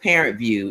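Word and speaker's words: ParentVUE: you had homework son it's called parent view it's it's parent view but it view is spelled v u e oh okay yeah so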